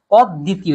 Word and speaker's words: অদ্বিতীয়: এই শব্দটা আমরা উচ্চারণে ভুল করি, এই জন্য লিখেও ভুল। শব্দটা অদ্বিতীয় না, শব্দটা অদ্বিতীয়।